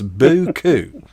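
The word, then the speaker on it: beaucoup: used to call buku which is spelled kind of i can't spell it but i can pronounce it it's boo coo of comments yes sir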